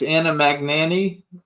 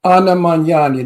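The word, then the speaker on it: Anna Magnani: CL says she likes Anna magani no don't manani Anna manani there's no magani in that name I hate when people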